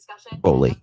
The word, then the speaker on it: Boley: Bully. Yeah. Okay, we're pronouncing it right.